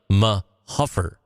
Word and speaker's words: Mahuffer: Locals pronounce it like Mahuffer.